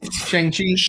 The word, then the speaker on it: Shang-Chi: No, but I was saying, speaking of the Green Lantern thing, It is pronounced Shang. Look I'll it tell up. you, Shang-Chi.